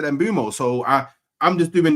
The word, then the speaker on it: Mbeumo: By the way, Embumo. Yeah, that's his name. That's how you say it.